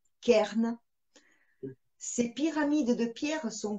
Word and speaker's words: cairns: s'appelle les cairns alors ça s'écrit ca y est reine maintenant comment ça se prononce kern ses pyramides de pierre